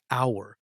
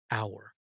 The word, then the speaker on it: hour: We don't say hour, we say hour. The H is silent, hour.